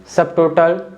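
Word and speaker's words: subtotal: up test सब topic सबटोटल ठीक है तो इन चारों वर्ड्स में जो बी है ना टी के तुरंत पहले आ रहा है लेकिन फिर भी हम बी को बोल रहे हैं ठीक है और ये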